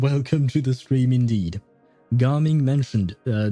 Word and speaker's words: Gaming: His name is Garming. It's not pronounced gaming though and he has nothing to do with gaming.